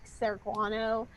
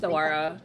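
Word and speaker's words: saguaro: That's where like the big like Serguano. I mispronounced Okay. that. I don't even. Sawara, yeah.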